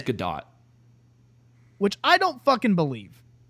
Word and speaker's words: Gadot: According to Gal, I always thought it was Godot, but she pronounces it differently. She says Godot, which I don't fucking believe.